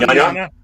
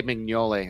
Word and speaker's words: Mignogna: Mignogna? Huh? Mignogna. Mignogna. Yeah. I always say Mignole. Okay, good. There's the G is silent.